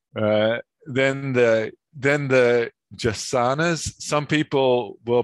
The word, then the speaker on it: jacana: it's a portuguese well it comes to english from portuguese but it's an indigenous word uh they're just the